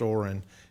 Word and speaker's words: Orin: And then there's also Orrin Clemens, which is spelled like Orion, but it was pronounced Orrin Clemens, and it was care of SLC, and that's Mark Twain's brother.